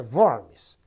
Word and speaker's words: Worms: Creio eu que a pronúncia em alemão é Worms.